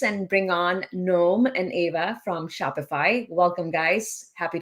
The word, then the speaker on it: Eva: happy to introduce and bring on Noam and Eva from Shopify. Welcome, guys. Happy to have you. And I'm going to stop sharing my screen. Eva, how do I your name? It's actually Eva.